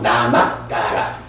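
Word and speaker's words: namakkāra: K 하나 더 넣어서 나마까라. 이렇게 이제 발음이 되겠어요.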